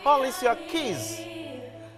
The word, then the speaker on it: Alicia Keys: Alicia Keys. C'est comme ça que les Américains prononcent. Ouais. Alicia Keys.